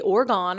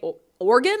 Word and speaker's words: Oregon: and they be like don't say orgon I'd be like say or organ like an organ in your body that's how you say it anyway I had to